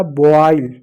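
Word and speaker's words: boil: जैसे एक शब्द है बी ओ आई एल। बी को क्या पढ़ेंगे? ब पढ़ेंगे। ओ आई को क्या पढ़ेंगे? ओ। औ की मात्रा प्लस ई पढ़ेंगे। एल को क्या पढ़ेंगे? ल पढ़ेंगे। हो गया बॉय। क्या? बॉईल बॉईल बॉईल मींस होता है उबालना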